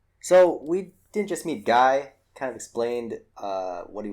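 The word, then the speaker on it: Gae: Gay? That's Guy. Guy? It's spelled, okay. Guy. See, yes, see, and thank you. In my notes, it's G-Y, like the guy from the 90s.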